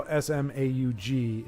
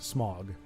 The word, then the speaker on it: Smaug: of these characters, but I can see how Smaug is not Smog.